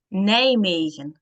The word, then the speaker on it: Nijmegen: So yeah, that's Nijmegen.